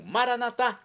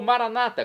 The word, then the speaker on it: Maranatá: E agora eu clamo, Maranatá, como dizemos nós católicos com a tônica na última sílaba, ou Maranata com a tônica na penúltima sílaba, como dizem nossos irmãos separados, os evangélicos ou protestantes, não importa a pronúncia, o significado é o mesmo.